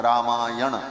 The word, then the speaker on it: रामायण: तो राम प्लस अयन दोनों मिल गया तो क्या हो गया बोले रामायण अब वो व्याकरण के नियम से न कोणा हो जाता है रामायण ऐसा उच्चारण किया जाता है तो अर्थ हुआ रामस